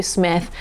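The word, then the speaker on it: Psmith: to P Smith or the p is silent so leave it to Smith by PG Woodhouse this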